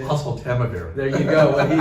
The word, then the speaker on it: Oseltamivir: It's hard for me to pronounce the generic, how do you say it? Oseltamivir.